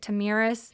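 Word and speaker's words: Tomyris: queen I think her I think you pronounce it tamiris yeah she lost her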